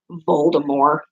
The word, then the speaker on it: Voldemort: name isn't pronounced like the T is silent so technically his name is pronounced bold or more and have you seen